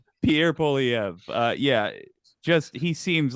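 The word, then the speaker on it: Poilievre: nailed it all right excellent I've heard perfect pronunciation Pierre poliev uh yeah just he seems like a sharper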